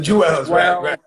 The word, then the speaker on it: jewels: know i talk funny i just say 12 jews people thought i was about 12 jews like j ew no the jewels let me say it right but the jewels are